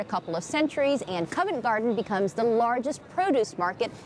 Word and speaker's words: Covent Garden: than 400 years now the name Covent Garden is actually a mispronunciation of convent garden and that started back in the 1500s when the monks of Westminster Abbey used this area as their vegetable garden fast-forward a couple of